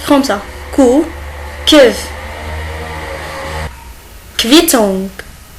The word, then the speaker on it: Quittung: Coup und OU, il se prononce kev. Kev. On va voir des exemples. Il s'écrit comme ça. Coup, kev. Quittung. Quittung.